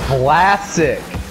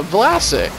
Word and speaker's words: Vlasic: No, Vlasic with a B, like vagina. Yeah, I'm saying it with saying with a B. A V, yeah, Vlasic. No, oh, okay, now you're saying it right.